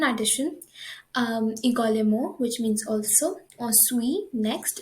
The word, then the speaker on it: ensuite: également, which means also, ensuite, next, in ensuite, remember we do not pronounce the T, it's silent.